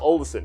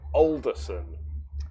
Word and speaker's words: Olderson: yeah he just said my name is not olsen it's pronounced olderson older older older son so here is what